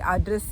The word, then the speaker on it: Adresse: We pronounce it like Adresse in German, but in English it is called address.